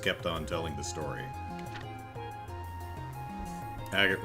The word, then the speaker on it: Agate: on telling the story agate rhymes with baguette yeah with the with